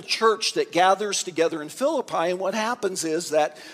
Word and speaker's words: Philippi: his dear friends in the Macedonian city of Philippi which actually is pronounced Philippi but I'll go with Philip I because most of you still know that anyway